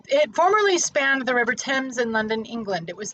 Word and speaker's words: Thames: spanned the river thames not tames or thames the river in london if